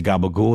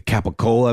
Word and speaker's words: capicola: also in The Sopranos that's how they say it yeah say gabagool it's actually actually I think a capicola maybe would be how a uh a Layman would say it but it's gabagool in in The Sopranos parlance